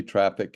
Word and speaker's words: Traefik: R A fi K and apparently traffic is the correct the correct way to say it I think according to